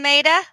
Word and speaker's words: Meta: Welcome, Maida. Hello. Welcome. Is it Maida? Yes, Maida. Maida. Maida. Yeah. Okay. It's spelled like meta, which makes people think it's like She's not a really my her Facebook name, fan.